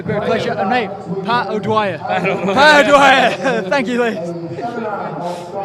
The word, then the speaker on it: O'Dwyer: O'Dwyer. O'Dwyer.